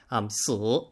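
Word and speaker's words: 死: 4 is unlucky because it's pronounced in Mandarin Chinese si, but it sounds very similar to si, which means to die.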